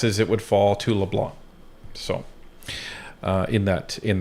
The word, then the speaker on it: LeBlanc: accepted the the role L blah cuz this C is silent um so so there is a a chain of command my guess is it would fall to Leblon so uh in that